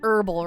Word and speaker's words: herbal: opposed to herbal oh it should be more like herbal right without the H I don't know besides